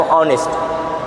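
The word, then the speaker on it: honest: तो लिखा है तो ऑनेस्ट ये लिखा है नेस्ट लिखा है लेकिन इसको इंग्लिश में पढ़ा नहीं जाता यच साइलेंट होता है इसका भी एक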